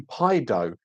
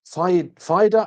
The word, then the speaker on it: Fido: I always call you Pido, but it's Fido. Oh, Fido.